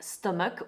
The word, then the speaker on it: stomach: I'm afraid that there is no hard rule when it comes to pronouncing CH as a hard K, but it's mostly related to words of Greek origin. So often medical and religious terms use a hard K, like stomach, which is part of